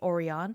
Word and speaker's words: Orion: Okay, so next up we have Orion, and that's how this is pronounced. It's Orion.